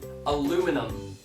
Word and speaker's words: aluminum: Aluminum.